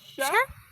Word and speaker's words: 茶: Tea is sha. Cafe is cafe. Hand is on. Remember the pronunciation.